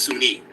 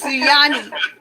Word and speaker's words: Sunyani: I think that's the Native American in me when I say Sunni, but it's Suyani.